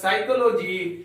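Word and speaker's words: psychology: में पढ़ेंगे हम लोग पी एस वाई सी एच ओ एल ओ जी वाई इसको साइकोलॉजी नहीं पढ़ेंगे इसका उच्चारण होगा साइकोलॉजी इसमें पी साइलेंट है इसका अर्थ होता है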